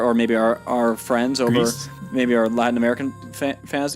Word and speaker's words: Gris: I'm pretty sure it's Gris, but I'm going to feel poorly if it's. So it's a Spanish studio, and it's the word for gray.